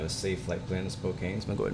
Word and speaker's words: Spokane: I have a safe flight plan in Spokane, so I'm gonna go ahead and pick that up.